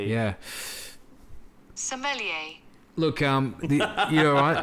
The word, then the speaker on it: sommelier: awesome millionaire yeah let's how you say it sommelier yeah sommelier look um you know I the Australian approach